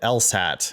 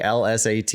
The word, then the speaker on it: LSAT: just so everybody knows I also think that else hat is an acronym not an initialism but when you sound when you say l-s-a-t you sound like a noob actually what a lot